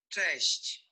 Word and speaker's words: cześć: up because is it Czesh? I forgot how to say it. Hold on. Yes. Here we go. Oh, my stupid phone. Cześć. Cześć. That's how you say it in Poland.